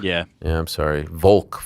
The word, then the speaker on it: Volk: Yeah, Volk. Yeah. Yeah, I'm sorry. Volk. Slide that L in there.